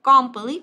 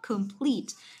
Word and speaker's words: complete: Complete, nhớ không đọc là come hoặc là complete thì chưa? Cái này là complete.